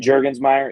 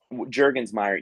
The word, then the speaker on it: Jurgensmeyer: Jet Jurgensmeyer, it's written right here on the screen. Jet with 1 T, like a plane, and I then did spell it right. Jurgensmeyer. Yep. Okay. Jurgensmeyer.